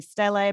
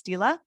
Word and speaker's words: stele: is the mernepta stila i for sure had to ask how to pronounce that last word i was saying stele but it's stila it looks sort of